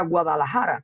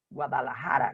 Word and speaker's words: Guadalajara: como podemos ver, Guadalajara, la J la estamos pronunciando como si fuera, digamos, como una H inglesa o como una, digamos, sí, como una H inglesa, pero no estamos teniendo en cuenta la Jin árabe, Guadalajara, no es Haya,